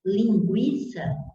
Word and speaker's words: linguiça: Por exemplo, se você falar linguiça, ou linguiça, você pronunciou o U, você falou lingui, pronunciou o U.